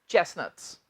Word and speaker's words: chestnuts: ध्यान दे स्टूडेंट्स, इसमें ये जो टी है इसे हम प्रोनाउंस नहीं करेंगे, इसे हम चेस्टनट्स नहीं कहेंगे, ये है चेस्टनट्स।